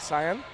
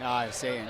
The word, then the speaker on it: Saiyan: I keep thinking it was like Cyan. Saiyan, yes.